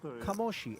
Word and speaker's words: Kamoshi: one Claudio De Marzo, who says it is indeed pronounced Kamoshi.